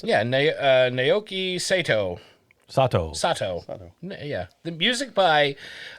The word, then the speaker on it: Naoki Sato: Can you pronounce it? Yeah, Naoki Sato.